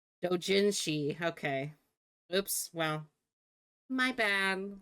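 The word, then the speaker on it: 同人誌: Um, do Yeah, I thought it's pronounced Doshini. Is it not? Well, my bad. If it's not pronounced like that. How do you pronounce it? I'm gonna look this up. Open new. See. Pronunciation. Let me see. Oh, Dojinsi she is how you pronounce. Oh, well, Dojinshi.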